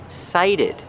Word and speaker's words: cited: The T makes a T sound because it's before the stressed vowel. Citation. But this word is pronounced cited.